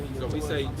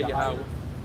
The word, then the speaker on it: Yahweh: Some people say Yahweh, some people say Yahuwah, So we say Yahweh.